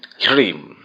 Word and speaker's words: ह्रीम: उच्चारण को आप फिर से समझ लें, ह्रीम, ह्रीम, ह्रीम, ह्रीम, ह्रीम, ह्रीम।